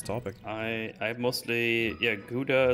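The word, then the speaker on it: Gouda: I I mostly yeah guda is a good one it's always funny to me how that's pronounced in English by the way in Germany you say GAA GA mozzarella cheese I like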